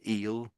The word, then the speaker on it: eel: So, so it's I suppose it is E after there's two E's there and so maybe we're saying it for a longer period of time. I don't know if it's a longer e but it's it's we're stretching out the sound a bit more.